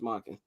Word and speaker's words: Monken: Todd Monken, yeah, offensive how do I pronounce that? Todd Monken. It's Monken.